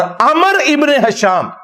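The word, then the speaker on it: عمرو: दुआ काबुल हुई तो यह उम्र और अमर का फर्क आपको पता होना चाहिए लेकिन यह मैंने सिर्फ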